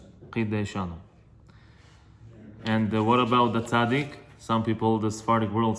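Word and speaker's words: צ: However you want to pronounce it, you could, but the Sephardic tradition tells us it is like a, it's not a S, it's a hard S.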